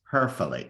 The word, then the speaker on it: Hoeferle: Her name is Hoeferle. I learned to pronounce it properly this morning.